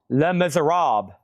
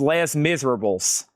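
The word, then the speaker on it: Les Misérables: Le Miser Rob Gold stamp promo. It's not pronounced less miserables. I'm believe me I can speak French.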